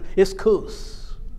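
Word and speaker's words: ἰσχύς: c h u s it's not pronounced esus it's isus and finally the word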